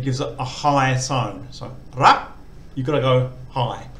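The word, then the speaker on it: รัก: So low class initial consonant, dead syllable, short vowel, and it gives a high tone. So ra, you've got to go high.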